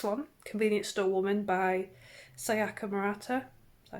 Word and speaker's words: Sayaka Murata: So I read this one, Convenience Store Woman by Sayaka Murata.